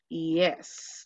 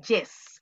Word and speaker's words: yes: Yes. Y recuerden que la pronunciación de la Y no es yes, es ye, ye, yes.